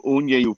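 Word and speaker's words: Uniejów: the fighter who's from uni poland okay and it's spelled u-n-i-j-o-w and he says oh they love you there because you said the name correct my accent's probably really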